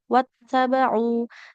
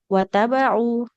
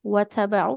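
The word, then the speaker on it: وَاتَّبَعُوا: Contohnya di awal, wattaba'u. Taknya bertasydid, kita bacanya tidak ditekan. Wattaba'u. Ini kan hitungannya taknya double ya, 2 huruf tak. Wat. Kalau tidak kita, nah, kalau tidak kita tekan, wattaba'u berarti taknya hilang satu.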